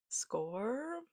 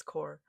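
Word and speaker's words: Xcor: Like the scene in Lover Unleashed when Core Score, I pronounced it score, but apparently it's Core.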